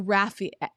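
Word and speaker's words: Raphie: anyone by mispronouncing uh so rafi r-a-f-f-i-e is the um what's it called like the the terminology for how to pronounce something but you spell it r-a-p-h-i-e so thank you so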